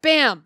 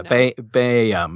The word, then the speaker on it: Baham: your your name bam but but it is spelled b a h a m just for listeners to know yeah ba bam it's kind of a Welsh like bam bam yeah my kids at